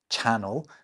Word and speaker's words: channel: So let's help readers out by pointing out that one is pronounced channel and the other one is pronounced canal.